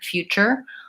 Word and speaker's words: future: Structure, nature, future, all of those have this suffix T-U-R-E, and it sounds like chur.